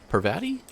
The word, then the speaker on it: Parvati: Parvati? Parvati? That's how you say it.